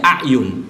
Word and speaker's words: A'yan: Keluarga besar A'yan, atau orang kadang membacanya A'yun.